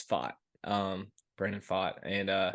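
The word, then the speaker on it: Pfaadt: uh Kelly and uh fought I think is how you say it it's fought um Brandon fought and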